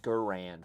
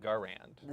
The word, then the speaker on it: Garand: Frag does say it's Garand personally, but a lot is actually because of our Midwest accents. I always hear M1 Garand. So do I. So, John Garand. Yes, John Garand.